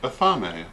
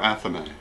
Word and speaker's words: athame: have many correspondences and meanings on many levels pronounced athame or athame the athame or ceremonial knife is the first